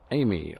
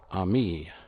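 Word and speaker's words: Ami: and i've got my citroen amy or army as people tell me i should be pronouncing this is a 1974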